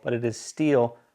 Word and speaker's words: Stihl: pronounce the name and it's actually pronounced steel not still some people call it still but it is steel like the metal answered